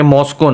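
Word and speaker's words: Moscow: आपको पता था लेकिन आप प्रोनाउंस सही नहीं कर रहे थे, मॉस्को नाम है उसका।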